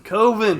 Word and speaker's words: Coven: that he made finally coven koven yeah or kovin yeah I mean coven is the correct pronunciation of that word have you ever seen